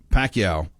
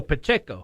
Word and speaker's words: Pacheco: Isaiah Pacquiao, or how do you say that name? How do we say Pacquiao? What is that? Who's this? This running back. For the Chiefs? Yeah. Oh, Pacheco. Pacheco, thank you.